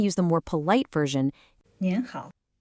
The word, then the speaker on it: 您好: 您好. Hear that little N sound at the end?